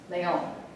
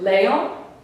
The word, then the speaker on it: león: It's on the last syllable, right? It's not on the second to last syllable. Here's the word. It's divided into two syllables. It's not león, and it is león, however.